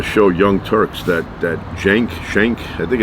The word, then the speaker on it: Cenk: all different pronunciations but I think the main one is Jenk with like a J sound.